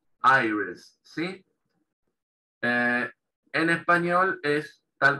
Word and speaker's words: iris: En inglés se pronuncia iris, la I latina que está al principio, se pronuncia como un diptongo, A-I, iris, ¿sí?